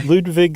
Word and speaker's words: Ludwig: Ludvig II. And we're saying the W like a V, correct?